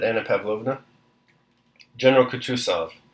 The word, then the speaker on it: Kutuzov: "General Kutuzov," said Bolkonski, speaking French, and stressing the last syllable of the general's name like a Frenchman.